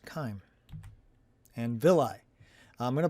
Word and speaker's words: chyme: I believe it has a Greek origin, and that's why it's pronounced chyme.